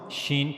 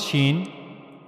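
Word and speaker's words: شين: Now how to pronounce shen? So for pronouncing shen you have to use the middle of the tongue and you will go to the raw roof of the mouth.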